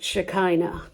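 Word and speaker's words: Shekhinah: They called it shea or the way I pronounce it shakina. The shikina was often connected with God's glory.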